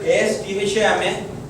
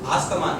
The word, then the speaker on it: asthma: This word ASTHMA. It's not an asthma, it is asthma.